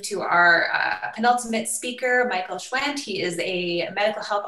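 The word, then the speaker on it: Schwandt: your name hi there it's Michael Schwann so you got it pretty much perfectly thanks a lot for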